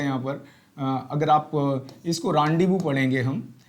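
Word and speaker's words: rendezvous: ध्यान रहे, इसको जो आप कहेंगे इसका प्रोनाउंसिएशन रांडीवू पढ़ा जाएगा, रेंडेजवस या रेंडूज नहीं पढ़ा जाएगा, ये ध्यान रखना।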